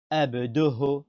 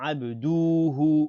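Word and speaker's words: عبده: Abduhu, c'est ain, c'est pas ab, c'est ain, ab, dou, c'est pas do, c'est pas ho. On ne dit pas abdoho, non, bien prononcé, abduhu, on ne tire pas sur dou, et on ne tire pas sur hu. On dit pas abduhu. On dit pas abduhu. On dit abduhu.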